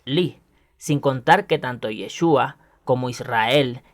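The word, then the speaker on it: יש: Como pueden observar en la imagen que les muestro ahora en pantalla, Yud Shin, pronunciado Yesh, significa hay o existe.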